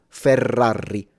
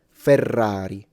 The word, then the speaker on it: Ferrari: This is wrong. Ferrari. And wrong with both single. Ferrari. Ferrari. Correct. Ferrari. So, I don't know if you could tell the difference, but that's how you pronounce a single thrilled ah correctly from a native's perspective.